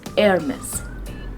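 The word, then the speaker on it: Hermès: is air miss hermes the sound of h is going to be silent in this word we are not going to pronounce h sound it is air miss hermes heir miss is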